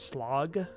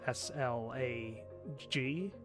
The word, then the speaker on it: slag: you can use is slog so it's s-l-a-g um but that in english if you're not put pronouncing it like norwegian it's slag and that has a